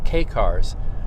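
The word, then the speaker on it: kei: be butchering the pronunciation, K-cars. Not K as a letter, but K as in K-E-I.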